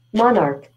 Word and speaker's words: monarch: But then, it's K. It's not C. C tu tak bunyi. Okay.